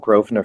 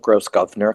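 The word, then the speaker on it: Grosvenor: There was a thing called Grovener first. I called it gross governor because it's the way it's written.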